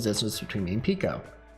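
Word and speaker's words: Peko: distance between me and Pico. I know it's probably pronounced Peiko, but I like saying Pico.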